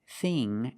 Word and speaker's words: thing: The dictionary shows the word thin with the same pronunciation as thing and think, but they are different. Thin, thin, is a short I sound, thin, like this is thin. But with ing and ink, we use the long E sound, like green beans.